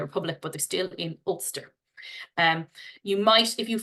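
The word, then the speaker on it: Ulster: is always helpful for people to understand the pronunciation as well so the top of Ireland in the north is olster and as I said Northern Ireland is entirely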